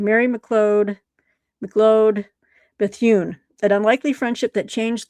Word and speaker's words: Bethune: Mary McLeod McLeod Bethune.